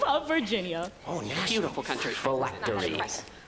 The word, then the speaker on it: phylactery: Phylactery. Phylactery. Am I pronouncing that correctly? Yes.